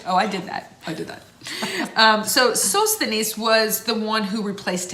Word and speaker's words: Sosthenes: Sosthenes is how you say his name.